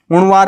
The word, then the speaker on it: Uzhavar: उणवार है ये, उजवार नहीं है, सॉरी, UZHAVAR, इसको उणवार बोला जाता है, ठीक है ना।